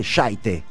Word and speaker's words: shite: Y supimos que en Escocia no se dice shit, sino se dice shite. ¿Eso es así de verdad o es algo inventado por Irving Welsh? Oh no, that's true. That's definitely true. I can confirm that is how it's pronounced.